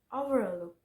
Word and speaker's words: overlook: Three syllable word with stress on the third syllable are overlook, overlook.